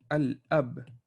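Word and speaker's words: الأب: So for example, if you guys memorize this word al ab, you will pronounce the al.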